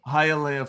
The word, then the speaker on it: Hialeah: Hialeah, Florida. I made sure I got that pronunciation down because it's not totally straightforward.